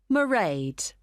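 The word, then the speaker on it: Mairead: It's M A I R E A D. Merade. Okay, got that. It's not a name I'm familiar with. It's an Irish name.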